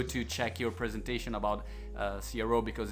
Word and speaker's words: CRO: It's just like SEO. It's CRO.